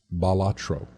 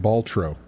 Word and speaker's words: Balatro: to pronounce batro is by looking at the pronunciation of the Latin word which is balatro um so for reference I've been pronouncing it baltro I never thought of